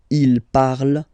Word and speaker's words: parle: So even if you've got this ENT, well, don't hate me, but you won't pronounce these letters. Okay, you have to write them for the plural form, but you don't pronounce them.